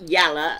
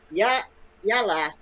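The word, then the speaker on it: يلا: It's not yalla at all. It's yalla. I know some, and it has three meanings. It means okay. It means what? It means yalla.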